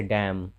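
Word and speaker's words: damn: तो जब एम के बाद एन रहे तो एन का उच्चारण नहीं होता है, जैसे डैम, डैम का मतलब धिक्कारना।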